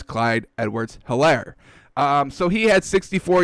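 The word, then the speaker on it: Clyde Edwards-Helaire: i love it um and there's an h so i will pronounce it as clyde edwards hilaire um so he had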